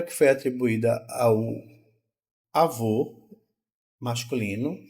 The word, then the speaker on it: avô: aqui olha aqui ó avô o e avó ó avô o o o o o o é um o é mais Redondo certo e é mais fechado só a vô enquanto